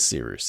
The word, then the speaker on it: Seeroost: My name is Seeroost. It's spelled like Cyrus, pronounced like Sea Rooster. Just take out the terror.